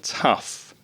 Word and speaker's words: tough: Pronunciation, tough.